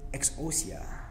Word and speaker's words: exousia: The Greek word here in verse 19 for the power of the horses is exousia.